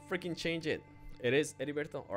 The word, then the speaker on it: Heriberto: I almost said Heriberto, but I know that's not how you say it. Heriberto. You don't pronounce the H in Spanish.